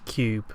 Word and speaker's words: Q.U.B.E.: another double review um the first game is Cube spelled with a Q and this is a